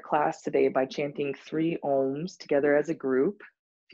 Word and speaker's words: Aum: of your own home the sound ohm is spelled AUM and it starts kind of like when you're at a dentist there's this ah sound the AH sound gets shaped with our mouth and our lips kind of like you're